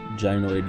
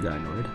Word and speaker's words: gynoid: I did look up the pronunciation of gynoid, gynoid, and it came up as both, so.